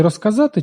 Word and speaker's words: розказати: Але при вимові кінцевий «з» перед глухими теж стає глухим, уподібнюється до «с». Розказати. У слові розказати чуємо розказати. Чому? Бо к глухий, своєю глухістю він впливає на з та оглушує його.